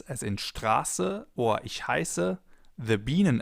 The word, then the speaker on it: Straße: For example, in Straße, Straße, or ich heiße, ich heiße. The vowel or diphthong in this case is pronounced long, Straße.